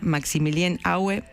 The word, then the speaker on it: Maximilien Aue: El tipo se llama Maximilien Aue, se debe pronunciar.